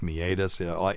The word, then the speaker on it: meatus: the urethra the urethral meatus which by the way is spelled meus and that's hilarious but it's meatus aka the cockhole and